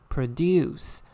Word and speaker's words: produce: in different situation so when it is used as a verb is produce the stressful on the second syllable but when it is